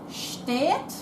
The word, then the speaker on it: steht: And if we're talking to more than one person, so we're talking to a group, plural, steht, got that T, steht auf bitte.